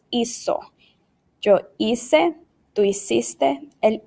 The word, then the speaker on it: hizo: it, it would say hico. Right? Well, that's not how we pronounce this word. It's hizo. It makes the S sound.